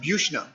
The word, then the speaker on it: Buchna: The name is German. Yep. German pronunciation, Buchna.